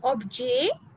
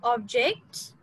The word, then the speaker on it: objet: Okay, le objet. So we will not call it object. Objet, le objet de la class.